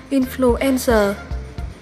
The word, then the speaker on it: influenza: 3 được đọc là influenza. Nhấn âm 3 nhé.